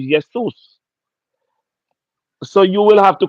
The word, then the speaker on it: Jesus: you as to why the correct pronunciation is yesus so you will have